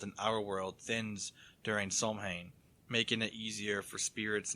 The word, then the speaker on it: Samhain: Yeah, the thing I said, it had to pronounce and didn't have the M, so I don't know if they forgot to put in the M. Cause, I mean, there's an M in there, so I would imagine that it would have, an M in the word.